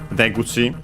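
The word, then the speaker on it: 出口: And that one is, by the way, accent on the first syllable, so be careful.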